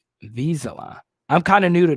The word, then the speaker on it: Vizsla: So yeah, I was like, wait, Des is talking about Skylar Green, and it's pronounced Vizsla. Yeah, they do kind of look like labs, Eric. You're right. Vizsla.